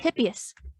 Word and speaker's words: Hippias: The next one is Poseidon Hippias. It's like if you took a hippo and a hippie and put it together to make the word Hippias.